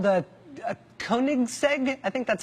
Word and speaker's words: Koenigsegg: the world including some Swedish thing called the Koenigsegg I think that's how you say it koe n IG s e-g Koenigsegg he had one that was one of only